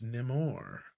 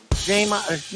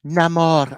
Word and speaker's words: Namor: him Neymar? No, we will call him Namor.